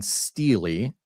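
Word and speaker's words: stele: So just to finish this part out, the Tower of Babylon Steely, thank you to, who was it? Somebody in the chat says, oh, you should pronounce it Steely. We'll call it Steely.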